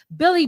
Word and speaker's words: Bill Li: from owensburg south carolina spelled billy black but pronounced billy it was just like